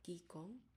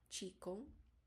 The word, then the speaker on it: Qigong: Okay, so first let's talk about Qigong, Qigong, or Qigong. That's the pronunciation.